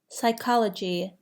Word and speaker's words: psychology: Psychology has a silent P.